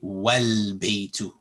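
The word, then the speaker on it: وَالْبَيْتُ: But when there's a wow written here, for example, wow, you would skip over this alif. And you would say wal baytu.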